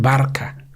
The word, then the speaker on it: Barça: Nosotros no pronunciamos Barça, decimos Barca. Porque la C trancada, la C catalana, esta no existe en inglés.